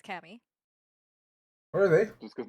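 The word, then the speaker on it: Caoimhe: Tammy yes the ones that's spelled that doesn't sound yeah c-a-o-i-m-h-e yep that's Cami what are they just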